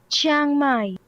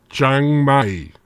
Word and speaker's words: Chiang Mai: Let me get the official pronunciation. That is Chiang Mai. Chiang Mai.